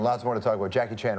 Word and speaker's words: Jackie Chan: many jackie in china they call me jackie chan and some people call me jackie chan right like jackie chang whatever yeah as long as